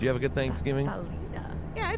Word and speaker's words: Salida: Salida. Yeah, I said it right. Salida? Salida. Yeah, and then when you said you didn't know how to say it, I said Salida. It's like solidify.